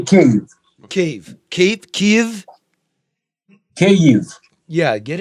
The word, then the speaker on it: Kyiv: Now, the Russians say Kiev. Okay. And We say Kyiv.